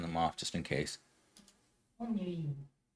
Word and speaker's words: ennui: Ennui. Ennui. Ennui. You guys hearing that? Ennui.